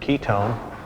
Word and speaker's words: ketone: in the entire word ketone but typically you will see the o any ending and it looks like one but it's pronounced own always its own for ketone what would be the